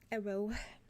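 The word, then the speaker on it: Aro: Also, it's spelled A-R-O. A-R-O. That's cool. Arrow.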